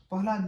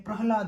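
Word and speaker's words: प्रह्लाद: होता है प्रहलाद इनको लोग पढ़ते हैं प्रहलाद प्रोनाउंसिएशन लोगों का सही नहीं होता है लोग उनको पढ़ लेते हैं प्रहलाद प्रहलाद नहीं है प्रहलाद होता है जैसे जैसे पट्टा हो गया अपराहन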